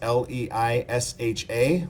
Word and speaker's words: Leisha: It's Leisha. Last name is spelled Nolen.